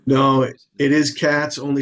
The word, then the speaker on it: Katz: I'm fantastic, and it is Katz. It's not like Kotz or something, some other. No, it is Katz, only spelled with a K and a Z, not a C and an S.